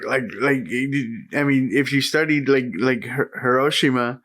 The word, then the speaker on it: Hiroshima: I pronounce them correctly, by the way. Not Hiroshima. Hiroshima. Oh, okay.